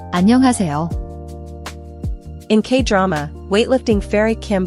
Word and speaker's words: 안녕하세요: The H in is often softened or almost silent, especially in fast speech. Don't overaspirate it, it's a gentle breath, not a hard H sound like in hat.